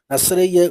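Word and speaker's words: נזיר: உண்டாவதாக தொடர்ந்து ஆறாவது அதிகாரத்திலே நசரேய விரதத்தை குறித்து சொல்லப்பட்டிருக்கிறதை பார்க்கிறோம் நசரேயன் என்ற சொல் எபிரேயில் நாசேர் என்று சொல்ல உச்சரிக்கப்படுகிறது நாசேர் என்றால் தனியாக பிரித்தெடுக்கப்பட்டவர்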